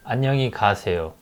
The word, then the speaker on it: 안녕히 가세요: 안녕히 가세요. It's a 6 syllable. 안녕히 가세요. Right? So when we say it faster, 안녕히 가세요. When we say it naturally, 안녕히 가세요.